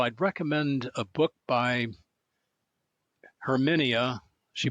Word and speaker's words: Herminia: first of all I'd recommend a book by herminia she pronounces it herminia first name h e r m i n